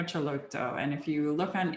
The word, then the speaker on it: Celotto: antonio celotto which is spelled c-e-l-o-t-t-o so antonio chalotto and if you look